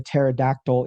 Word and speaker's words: pterodactyl: why didn't you hear the pterodactyl in the bathroom? And I was like, why? He's like, because the P is silent, and he absolutely thinks